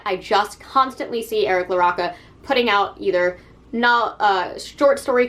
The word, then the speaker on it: LaRocca: I think it's LaRocca. It could be LaRocca. I knew somebody with that last name, and it was always pronounced LaRocca, so I'm going to go with that.